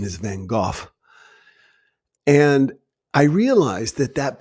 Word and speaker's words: van Gogh: mayonnaise the rembrandts and my favorites the proper pronunciation is van gogh and i realized that that brought me so